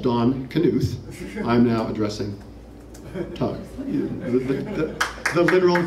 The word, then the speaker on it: Knuth: call it's like Knopf you pronounce the K right he did call